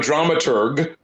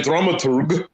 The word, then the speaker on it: dramaturg: But a dramaturg, right? If you want to go with the full German pronunciation, they are responsible for